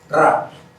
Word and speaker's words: Ra: Ra, como dirían los antiguos egipcios, pronunciando con la gutural, Ra.